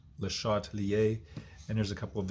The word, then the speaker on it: Le Chatelier: It's pronounced Le Chatelier.